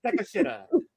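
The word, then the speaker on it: Takeshita: Takashita. Takashita, all right? Takashita, I'll say. There you go. Takashita.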